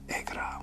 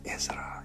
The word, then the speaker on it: Ezra: communicating with you okay some people pronounce my name as erra when it's Ezra yeah I figured it